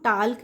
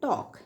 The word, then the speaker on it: talk: इसी तरह से TALK, यहाँ इसको हम टाल्क नहीं बोलेंगे, इसको हम बोलेंगे टॉक। ये एल जो है ये साइलेंट है, इस एल की कोई आवाज़ नहीं आएगी।